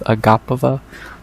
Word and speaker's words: Agapova: I think I'm finally saying it right, because I've said Agapova for years, but I think it's Agapova.